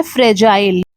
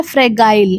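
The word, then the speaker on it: fragile: देखिए यहां पे जो जी लिखा हुआ है इसकी प्रोनाउंसिएशन ग से नहीं होगी। ज से होगी हिंदी में। इस वजह से बहुत सारे लोग इसे गलत प्रोनाउंस करते हैं। लोग बोलते हैं फ्रेगाइल। लेकिन ये गलत होता है। इसका करेक्ट प्रोनाउंसिएशन है फ्रजाइल। क्योंकि यहां पे जो जी है वो ग का साउंड नहीं देता है। ज का साउंड देता है।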